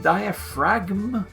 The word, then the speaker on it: diaphragm: Do you mean diaphragm or is that actually diaphragm in English? No, it is with a G.